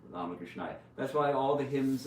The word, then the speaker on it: Ramakrishnaya: It's a long A, Arya, Ramakrishnaya.